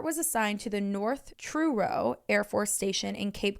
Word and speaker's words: Truro: first-class Airman Robert was assigned to the North Truro Air Force Station in Cape Cod Massachusetts I